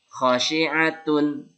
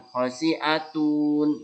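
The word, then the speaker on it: خَاشِعَةٌ: Khosyi'atun, bukan khosyi'atun. Nah, ya, ini cara bacanya masih pendek-pendek.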